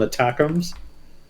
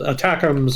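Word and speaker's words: ATACMS: think people call them attacks that's a it's it feels like a weird way to pronounce that acronym but I guess that's what it's supposed to be called attacks are the Army tactical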